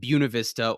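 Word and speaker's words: Buena Vista: Coloradoans in their weird pronunciation, everything pronounce it buista or BV for short.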